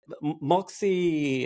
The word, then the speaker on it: Muxi: But yeah, Moxie, it's spelled MUXI.